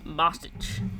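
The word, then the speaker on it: Boetsch: and I can't say his name Tim bosich bosich yes who you got in that fight uh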